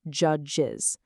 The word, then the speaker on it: judges: Both of these end in those strong ch and j sounds. Because of that, they absolutely require the full is extra syllable to be pronounced correctly. Churches, judges. If you try to say them without that extra beat, your tongue is just going to get completely tied in knots.